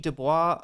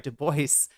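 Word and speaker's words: Du Bois: Yeah, I think of that as like a older I mean like in the WB Dubois uh sorry Deoce um is actually how his name is pronounced um in like the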